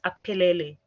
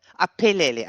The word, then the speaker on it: Apelele: It's Apelele. Apelele. Okay, so of course, yes, it's not an F like in English. Apelele.